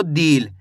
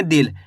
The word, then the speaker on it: दिल: ऐसे नहीं पढ़ना आपको दिल। अगर आप दिल पढ़ोगे तो यहां पे बड़ी ई की मात्रा का उच्चारण हो गया। जबकि अपन छोटी इ की मात्रा पढ़ रहे हैं तो कैसे पढ़ेंगे? दिल। यानी कि कम खींच के पढ़ना है।